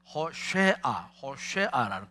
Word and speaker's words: 호쉐아: 해서 호세아서라고 하는데, 이제 원래 원래 히브리 원어로 말하면 호세아가 아니고 호쉐아라는 그런 발음입니다. 호쉐아인데, 이 호쉐아는 여호수아라는 말에서 나왔어요.